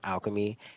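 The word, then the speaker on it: Alkeme: you mentioned yes it's it's called alchemy but it's not spelled like traditional alchemy it's spelled a l k e m e alchemy great thank you and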